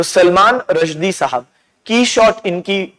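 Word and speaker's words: Quichotte: लेकिन जो इसके राइटर हैं उन्होंने खुद कहा है कि इसका सही प्रोनाउंसिएशन क्वीश नहीं है बल्कि की शॉट है।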